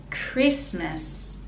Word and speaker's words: Christmas: wide and christmas christmas we don't pronounce the t and the last syllable miss again is schwa so miss christmas christmas